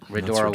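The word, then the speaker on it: Rhodora: Did I pronounce that correctly? Yep, Redora Wine Bar.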